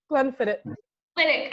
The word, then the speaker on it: Glenfiddich: Tracy, do I pronounce that right? Is it Glenfiddich? Glenfiddich.